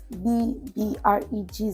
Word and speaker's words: Bbregzes: say PB r e g z s at BB r e g z e s BB and the brand name is pronounced BB for those that call please it